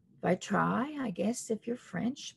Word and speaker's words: vitrail: uh we're going to be using the pebio by trail by try i guess if you're french but i call it by trail that's how it's spelt v-i-t-r-a-i-l and the vitrail